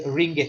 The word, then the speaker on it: ringgit: Okay, so it's a ring gate, ring plus the gate, so it's the ringgit. That's the sound.